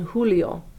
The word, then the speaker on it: Julio: You'll notice for both Julio as well as Junio, we pronounce the J sound as an H sound. So it's Junio and Julio.